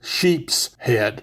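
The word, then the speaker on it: sheepshead: And yes, I'm saying sheep head cuz that's the way I was raised. Pronounce it now, everybody calls them sheep's head, which is how it's written in the fish book, but that's only cuz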